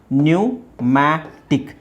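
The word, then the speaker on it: pneumatic: ಜ್ವರ right ನ್ಯೂಮೋನಿಯಾ ಹಾಗೆ ಇದು ಪಿ ನ್ಯೂಮ್ಯಾಟಿಕ್ ನ್ಯೂಮ್ಯಾಟಿಕ್ ನ್ಯೂಮ್ಯಾಟಿಕ್ ನ್ಯೂಮ್ಯಾಟಿಕ್ ಇಲ್ಲಿ ಸ್ವಲ್ಪ ನೀವು ಉಚ್ಚಾರಣೆ ನೋಡಬೇಕು ಪಿ ಇದೆ ಪಿ ಸೈಲೆಂಟ್ ಮಾಡಬೇಕು ಇದು ಇಲ್ಲಿ ಒಂದು ಲೆಕ್ಕದಲ್ಲಿ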